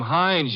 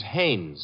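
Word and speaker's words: Haines: you know him H is your fellow name Hines used to fish out no no no not Hines Haynes couldn't be Huntingburg no it couldn't be the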